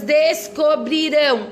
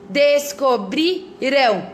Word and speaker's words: descobrirão: Olha só, ali primeiro tá assim, descobrirão, no passado, descobrirão, olha só, qual é a sílaba tônica que eu tô falando mais forte?